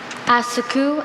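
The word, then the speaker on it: assacu: Asaku. Am I pronouncing it close?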